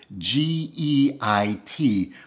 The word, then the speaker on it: Geit: by the name of g-e-i-t which is his nickname i believe it's pronounced geit it's a german nickname that comes from the german word for guide and guit showed me